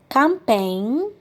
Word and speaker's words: campaign: say plague dialogue prologue finally we have silent g for example sing campaign foreign all right well let's